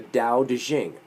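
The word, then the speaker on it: Daodejing: notice it's spelled t-a-o-t-e-c-h-i-n-g you'll find it more often nowadays as d-a-o-d-e-j-i-n-g because that's the way it sounds i don't know who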